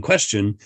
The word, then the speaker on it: question: Well, you'd have to you can't know unless you say, question has the base quest, which has the t pronunciation, but that t changes to a ch in question.